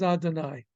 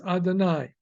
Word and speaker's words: Adonai: the kamat under it we are being told to pronounce it as Adonai uh so uh when we come across in prayers in blessings the double we will pronounce it as Adonai so that all right